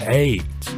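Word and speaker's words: Ayds: Those were called AIDS. 1 year later, a first case of AIDS was detected. And although it spells a bit differently, it is pronounced the same.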